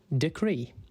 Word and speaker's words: decree: Today's word is decree. It's pronounced de-cree, and it is spelt D-E-C-R-E-E. Think deck and then re with two E's.